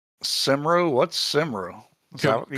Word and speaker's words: Cymru: Sweden versus fellow Cymru? What's Cymru? Is that you call Wales? Cymru.